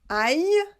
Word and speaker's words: aille: Attention, ici vous avez I-L-L, la prononciation c'est Y. Et là vous avez L-L-I, la prononciation c'est li. Donc ici, aïe, et ici, allions.